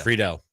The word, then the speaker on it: Friedel: So Nick Friedel, is that how you pronounce it? Is it Friedel or Friedel? Friedel.